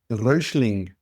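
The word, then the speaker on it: Räuschling: Come Rosling. How do you spell that?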